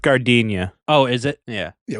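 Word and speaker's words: giardiniera: thing that's what I was thinking of it's pronounced gardenia oh is it yeah yeah we've probably extended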